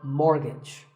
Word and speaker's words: mortgage: to buy a house so which letter is silent here it's the T the first syllable is more and the second is so mortgage number 27 is this